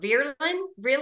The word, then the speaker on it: Vreeland: me about the Diana, how do you pronounce her last name with Vogue? Vreeland? Oh, Diana Vreeland. I think it's a good